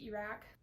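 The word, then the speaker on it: Erak: I say Iraq because that's how I read it.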